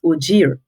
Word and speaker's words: Ogeer: a Secretary General and my name is actually pronounced oir right so yes oir a lot of persons have that challenge so